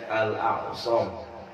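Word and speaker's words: الأصم: Hatim al-Asam, ya, bacanya al-Asam. Ya, kalau kita baca bahasa Indonesianya al-Asam. Ya, padahal namanya pakai hamzah, ain, shad sama mim. Ya, Hatim al-Asam. Jadi hamzah ketemu dengan ain.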